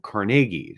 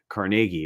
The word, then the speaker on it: Carnegie: of Andrew carnegies um but also that their names are pronounced differently um so and it's from Scotland and so they put the emphasis on different syllables for example look at